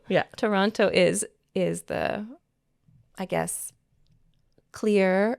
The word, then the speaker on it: Toronto: Ontario's capital city because it has two T's, but nobody here says it that way.